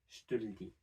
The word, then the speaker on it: je te le dis: next to each other, we can still drop two of these e sounds. So we can drop the e in je and the e in le, and say je te le dis.